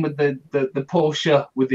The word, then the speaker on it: Porsche: because in German you call a Porsche a Porsche that's how they pronounce it in German yeah in English we pronounce it Porsche yes but that's a it's a different language